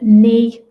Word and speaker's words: knee: So just be careful with the pronunciation of knee. Any word that begins KN, the K is always silent.